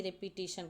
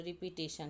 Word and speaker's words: repetition: कहते हैं ना कि रिपीटिशन का, तो रिपीटिशन तो रेपेटिशन होता है, REPETITION।